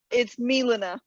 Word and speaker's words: Milena: It's Milena. Oh, Milena. Hold on. Milena. Oh, an I instead of an A.